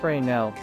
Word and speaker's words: Fresnel: and illumination systems and image formulation a fresnel pronounced fresnel lens replaces the curved surface of a conventional